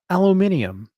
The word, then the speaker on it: aluminium: Or as the British say, aluminium.